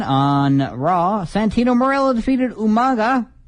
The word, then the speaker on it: Umaga: Raw Santino Mela defeated Umaga or umanga if you prefer the William Regal pronunciation in a no hoes